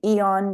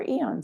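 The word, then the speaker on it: Aeon: But um we'll just I want to get to the next screen, Joy, and show them what um Eon does.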